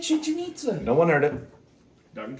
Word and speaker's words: Chichen Itza: Chichen Itza. I said that earlier. Oh, well, I didn't hear I it. did. I said Chichen Itza.